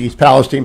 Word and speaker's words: East Palestine: I did not know that President Trump was going to East Palestine. By the way, five stars for pronouncing it correctly.